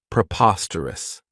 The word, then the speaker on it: preposterous: really like is Preposterous this adjective has four syllables and the stress is on that second syllable Preposterous remember that OS has that schah that sound this means that something